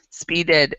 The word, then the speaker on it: speeded: and like nothing before speeded it's an ed sound okay so if we